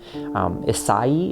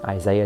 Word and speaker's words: Isai: Isai is how you would pronounce that, but it's just, Isaiah is just kind of what he's called, and it sounds like it's this thing that it's not.